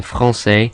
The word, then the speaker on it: français: But then some words have C's in them that aren't followed by E's or I's, but are still pronounced S, like in français, and that's because they have the cedilla or cedi on the C to tell us this is a soft S sound.